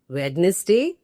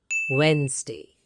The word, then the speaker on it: Wednesday: Wednesday, completely incorrect. And so common, people often make this mistake. The correct pronunciation is Wednesday.